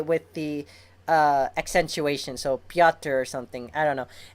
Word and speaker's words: Petr: from Steve Orlando that the way to pronounce what I've been saying Petr Petrovich his name is actually piata or Peter I don't know you know if you say it close enough to sound like Peter or if you say